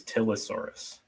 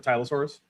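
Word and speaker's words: Tylosaurus: me okay I'm the only person I know who says tilosaurus instead of tyosaurus see I think that tilosaurus is a reasonable pronunciation for that set of letters so I'm fine with it yeah I just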